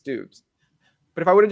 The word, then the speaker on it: Doubs: Okay, I started with Dobbs. I got flipped to Dubes, and now every time I'm about to say his name, I'm like, don't say Dobbs because it's Dubes.